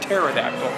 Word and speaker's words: pterodactyl: I know, but it has spelled with a P, so I like to just call it pterodactyl.